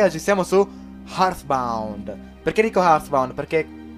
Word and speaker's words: Heartbound: Questo qua invece è Hearthbound. Pronuncia se. Dillo, Tommy, dillo. Hearthbound. Pronunciato come dei signori.